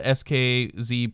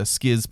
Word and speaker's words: SKZ: Okay, so this is the start of the SKZ players or the Skiz players, Okay. depending on how you pronounce that.